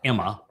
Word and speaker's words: Amma: and Amma is actually should be pronounced Emma, and M is mother,